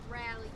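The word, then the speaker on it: Raleigh: on our way to North Carolina how you pronounce it city Rally we on our way to Rally rally rally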